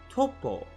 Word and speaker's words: Toppo: you see in Japanese topo is pronounced well just like that with a hard o sound tole pull but not